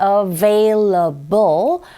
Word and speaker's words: available: Cooking utensils 이렇게 발음하시고 뒤에 available 마찬가지로 이 V 발음과 B 발음이 동시에 나와 있어요. 이럴 경우에 입 모양을 조금 더 신경을 써 주셔야 되겠죠. 배 아니고 available 이거죠.